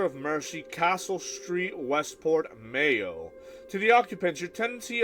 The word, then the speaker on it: Mayo: The name is from the Irish, pronunciation Mayo. Oh, Mayo? Much like the condiment, okay.